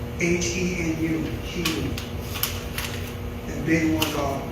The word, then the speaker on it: henu: But we call it a henu. H-E-N-U, henu.